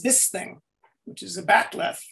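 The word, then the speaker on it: bat'leth: sword is x so it's a bach totally mangled that writing it into the script or pronouncing it or something and it came out all kinds of ways but they kind of settled on bat left which is a very non klingony thing phonologically so i kind of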